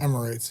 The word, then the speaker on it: Amorites: He asked one of the Amorites. Am I saying it right? Amorites, yeah.